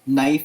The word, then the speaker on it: knife: Example, knife is spelled with a K. We would get rid of the K.